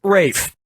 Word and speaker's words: Ralph: Ralph yep RAF Fine's first name is spelled like Ralph but pronounced Rafe and his brother Joseph